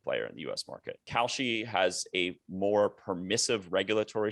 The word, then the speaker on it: Kalshi: The second legal onshore book is called Kalshi. It's spelled like the Whole Foods cereal.